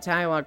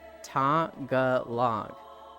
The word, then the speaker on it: Tagalog: The speakers of Tagalog pronounce it Tagalog, but Tagalog is the English way.